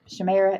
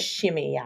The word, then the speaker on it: Shimei: Shemira, is that how we decide we're going to pronounce it? Shimei. Shimei. We're going to pronounce it Shimei.